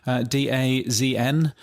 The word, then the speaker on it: DAZN: has been bought by, now is it pronounced DAZN or DAZN? DAZN.